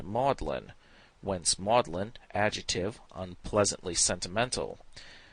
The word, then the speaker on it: Magdalen: in the united states in england the word is pronounced maudlin once maudlin adjective unpleasantly